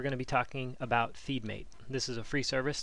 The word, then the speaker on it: FeedM8: center com forward slash feed mate and that's spelled just like the name of this company f ee d m the number 8 ok so what feed